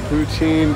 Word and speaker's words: poutine: Vicky, it's spelled P-O-U-T-I-N-E.